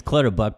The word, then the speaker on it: Clutterbuck: I didn't know how to pronounce his name, Clutterbuck. It's Clutterbuck, but you called him Buttercup.